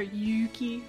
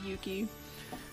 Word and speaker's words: Yuki: the way AA says it's actually supposed to have a long u sound there Yuki but it's just easier to say it quickly Yuki sorry sorry for my